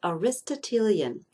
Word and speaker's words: Aristotelian: course this is based on Aristotle and is pronounced Aristotelian and he had two main ideas the first